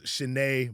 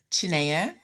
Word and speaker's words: Chinenye: the last 17 years I knew her as Chen Munday recently in the last week or two